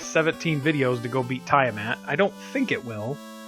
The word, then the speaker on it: Tiamat: That's how I'm pronouncing it. Tiamat. If you don't like it, tough. That's how it's getting pronounced.